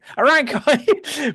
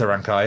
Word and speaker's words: Arankai: I never know how to pronounce it. Arankai. It is a Rankai, yeah.